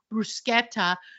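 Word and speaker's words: bruschetta: Sashimi you should know the correct pronunciation for brusketa which by the way it's brusketta don't pop up at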